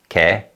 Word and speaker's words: 걔: And although 걔 is spelled with a Y glide 예, in fast speech it's pronounced as 걔, 걔.